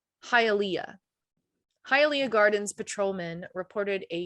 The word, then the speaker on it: Hialeah: It's Hialeah.